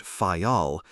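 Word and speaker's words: Fayal: Therefore, we steered for the nearest island of the group, Fal, the people there pronounce it fol, and put the accent on the first syllable.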